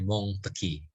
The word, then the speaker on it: Montesquieu: yudikatif itu teorinya Montesquieu ada orang Perancis bacanya Bong teki atau teorinya Jejer usai